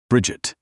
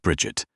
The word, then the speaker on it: Bridget: "Bridget," he said. Not Bridget. Not stretched to 3 syllables.